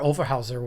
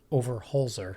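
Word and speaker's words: Overholzer: with the e23 but robert overhauser was in there over holzer i always pronounced his name wrong he owns wolf technic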